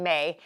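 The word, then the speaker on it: Mae: And I remember her name was May. I love that name. I love that name, May. And it's spelled M-A-E. So it's spelled M-A-E, and I think it's such a great name.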